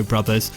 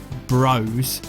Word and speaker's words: Bros: full-stop like Super Mario Brothers which in English is pronounced brothers not Bros with a falling-block puzzle